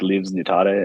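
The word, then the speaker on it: livsnjutare: yeah and I found this word it's it's pronounced more like leaves neutada and like it lives in jutare in Swedish and it means one who lives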